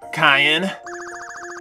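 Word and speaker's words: Cayenne: say your name is kyon yes it's pronounced like the pepper I don't see that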